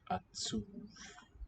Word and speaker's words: עצוב: And then V, and it's weakened, so I'm going to put BH. Or should I just put a V? It sounds like a V, but it's written with a B.